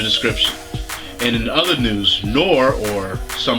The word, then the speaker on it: Noir: And in other news, Noir, or some pronounce Noir, is actually getting a live action adaptation from Starz Entertainment.